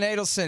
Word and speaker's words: Adelson: Yeah, so Sheldon, I think it's actually Adelson, although people seem to pronounce it both ways. Oh, but, okay. His people say Adelson.